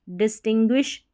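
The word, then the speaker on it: distinguish: और I का है, GUI शब्द के बीच में हो तो GUI को ग्वी करके पढ़ते हैं। जैसे देखें यहाँ पर इन स्पेलिंग्स में, एंग्विश, डिस्टिंग्विश, पेंगुइन, तो ये जो है एक बार इनकी प्रैक्टिस कर लें।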